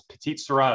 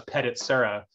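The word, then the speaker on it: petite sirah: lodi when you know back in the day we used to pronounce petite syrah as pettit serra and uh so you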